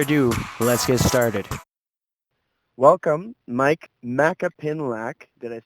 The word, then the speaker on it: Myke Macapinlac: little without further Ado let's get started welcome Mike MAA pinlac did I say it right yeah yeah I'm